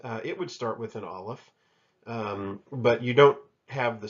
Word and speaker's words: Aleph: The transliteration for Aleph, because it's a silent letter, is just kind of an apostrophe. The sound that will come whenever you find an Aleph will actually be just the vowel sound.